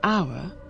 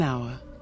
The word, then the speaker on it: hour: consonant sound is it right to say a hour or an hour it's right to say an hour why because